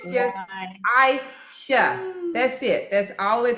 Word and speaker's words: Aisha: My name is Aisha. Aisha. Yeah. Not Aisha, 2 syllables.